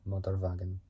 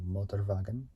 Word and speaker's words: Motorwagen: Like, when you see the words, like, with the W, they, like, pronounce it with a V instead of a W.